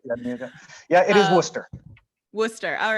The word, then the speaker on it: Worcester: Worcester. All right, perfect. Our It's pronounced Worcester.